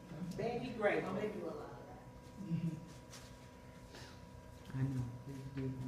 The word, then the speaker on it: Grable: And Betty Gravel, did y'all know that Marilyn Monroe was her best friend? Grable. Saying it wrong. They're gonna keep correcting you, Brandy, until you get that right. Betty Grable.